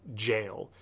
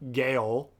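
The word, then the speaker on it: gaol: I don't know if you know this, but it's actually pronounced jail. Even when you pronounce it like this. It's not Gale, it's jail.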